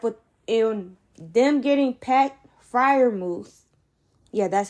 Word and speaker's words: Freiermuth: I like what in them getting Pat Freiermuth. Yeah, that's how you pronounce that.